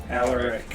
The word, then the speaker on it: Alaric: I thought you said Arlac. Oh no, I was like, what? Alarlac. Alaric. Alaric. Alaric. But it's spelled Alaric.